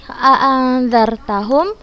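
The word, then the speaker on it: أأنذرتهم: Apakah Ustazah bacanya jelas nun itu? Apa Ustazah bacanya dengan gunnah? A'anzar. Ustazah membaca dengan samar. Maka hukum bacaan yang di sini a'anzartahum di sini berhukum ikhfa hakiki.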